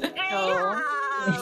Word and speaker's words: graham: Why do you separate it? It's Graham. It's Graham. No, it's not two syllables.